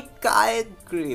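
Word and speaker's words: Kyogre: ओ भाई कायग्रे, भाई यार ये मेरे फेवरेट पोकेमॉन है कायगर। बच्चे में कायग्रे कायगर दोनों ही बोल सकते हो तुम्हें, काफ़ी लोग कुछ अलग अलग प्रोनाउंसिएशन करते हैं, तो मैंने दोनों नाम ही ले लिया।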